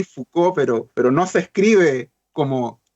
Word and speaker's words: Foucault: Igual lo voy a deletrear porque ustedes saben, es un apellido en francés que uno lo pronuncia así, Foucault, pero no se escribe